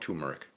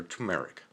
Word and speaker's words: turmeric: think of this as well ground turmeric or turmeric how once again it's your choice how you want to pronounce it last but not least